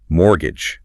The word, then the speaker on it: mortgage: the ultimate curveball for any learner, mortgage, m o r t g a g e.